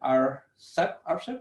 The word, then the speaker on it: RCEP: And we are hoping that RCEP, that's how we pronounce it, will provide the umbrella for doing it in much faster pace.